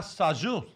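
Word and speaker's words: Sajous: -- Congratulations Jeremy Jordan --And a new squirrel is joining Bikini Bottom --Christina Sajou am I saying it right?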